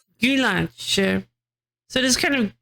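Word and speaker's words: Güllaç: about IPA you uh pronunciation in Turkish is it like gulach gulach.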